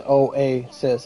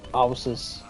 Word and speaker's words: oasis: So it' be likeis it wouldn't be like it's like where you pronounce a word where you pronounce both vowels for what they are as a single letter and not for what they make when combined. Cuz oasis is oasis. It's not oysis.